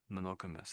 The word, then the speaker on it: monogamous: So, and it's monogamous. Monogamous. That's the English way. Monogamous. Um, it's just the ending bit.